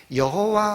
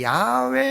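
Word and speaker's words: 야훼: 신들은 인간이 만들어낸 신인이지만 여호와 하나님 또는 다른 발음으로 하면 야외 하나님은 스스로 계시는 참신 2시고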